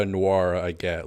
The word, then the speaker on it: Nwora: Like Nwora and Nwora, I get. Like, hey, you've got an N that's silent.